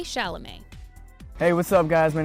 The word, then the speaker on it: Chalamet: It's pronounced Chalamet, not Chalamet. As with many languages, in French not every letter is pronounced the way it's written, which can make things like saying Timothée Chalamet slightly difficult.